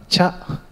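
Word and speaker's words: 茶: In Japanese, this is pronounced cha. In Thai, cha. It's okay? In English, tea. So in Thai, cha is pronounced in English, tea. Cha is tea.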